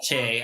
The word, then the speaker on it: Choi: There's another ethicist, Dr. Kiju Choi, or Che, I've been told is how we pronounce his name.